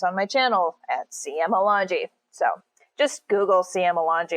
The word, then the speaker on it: Alongi: It is Sicilian. Everyone pronounces it Alongi. I hate that. It's not that. It's Alongi.